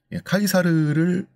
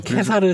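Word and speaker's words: Caesar: 그래서 독일어의 카이저, 황제란 뜻, 러시아어의 짜르, 카이사르를 자기네 언어식으로 다 이른 이름들이죠. 그럼 케사르 잘못된 거예요? 케사르요? 케사르라고 읽을 수도 있습니다. 예.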